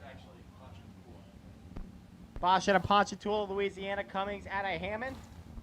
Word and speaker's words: Ponchatoula: It's actually Bosch at a Ponchatoula, Louisiana.